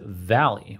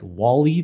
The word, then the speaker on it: VALL-E: another text-to-speech model and this Valley term it's spelled the same way as open ai's popular Dolly series of text to image models so it's v-a-l-l hyphen e in all caps it's supposed to look like Wally the Pixar robot in